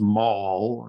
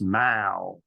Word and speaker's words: Mall: I was in London it's not pronounced Maul as an American would but it's pronounced Mao so I will try